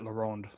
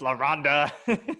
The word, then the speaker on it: La Ronde: You have to say it with like a rumble in your voice. La Ronde. Yeah. I learned that directly from a manager at La Ronde, so I feel like I say it right, but I probably don't. my American ass. La Ronda. La Ronda. You know, Rhonda down the street.